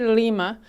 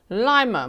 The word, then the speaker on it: Lima: That seems to be the way the locals say. They don't say Lima. From the news clips I've seen, they say Lima, Montana.